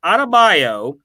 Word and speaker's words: Adebayo: Bam Adebayo, how do you say that? Say that 10 times fast. Adebayo, that's a better way of saying it. Adebayo, -11.